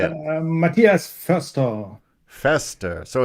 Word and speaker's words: Matthias Forster: Matthias Forster.